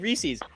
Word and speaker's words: Reese's: It's supposed to rhyme. Reese's Pieces.